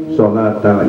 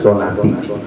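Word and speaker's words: shalata: Jadi karena aqimu fi'il dan fa'il, sholat tak kedudukan sebagai maf'ul bih, dan maf'ul bih wajib nasab, maka dibacanya sholata, bukan sholatu, bukan sholati.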